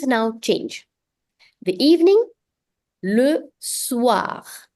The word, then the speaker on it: soir: The evening, le soir. Another nasal vowel here, S-O-I, which is pronounced as wa. So, le soir.